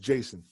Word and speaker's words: Jheisson: okay and it's pronounced Jason it's pronounced Jason yeah I swear Yeah